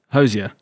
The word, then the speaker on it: Hozier: Hozier.